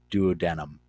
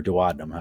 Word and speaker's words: duodenum: work together to carry bile down into the duodenum or duodenum everyone to pronounce it and this is where they're going